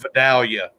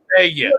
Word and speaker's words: Vidalia: He goes, no, it's pronounced Vidalia. I'm like, no, it's not. You ain't from around here, are you? Right. I said, I'm from Georgia. Right. It's pronounced Vidalia.